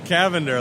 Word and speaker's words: Cavender: Cavender, like lavender, but with the C.